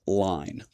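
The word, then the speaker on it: Ligne: That's spelled L I G Ne. I'm assuming that it's pronounced line.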